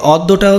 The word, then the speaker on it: অদ্য: তারপর দেখো অদ্য, এই অদ্যটাও সেম, অ প্লাস জ ফলা থাকলে কি হয়ে যাবে? ওকার হয়ে যাবে। এবং ওদ তারপরে কি? দো, দ ওকারে দো, অদ্য।